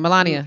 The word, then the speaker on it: Melania: What was, how do you pronounce her name? Melania.